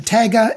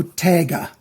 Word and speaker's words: Taiga: The Taga is how I say it because I learned when I was a kid. The spelling is T-A-I-G-A. When two vowels go a-walking, that means they're side by side. The first one does the talking. So Taga, T-A-G-A is how it's pronounced, I think.